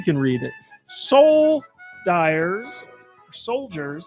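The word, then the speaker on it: Souldiers: Soul Dyers, Soldiers, spelled with S-O-U-L.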